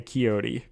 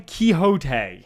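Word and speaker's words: Quixote: I can't say Picasso nor can I say keyote did I still say it wrong you mean Kyoto no Don keyote oh kot kot I I don't I yes Don kote There It Is Well done I'm proud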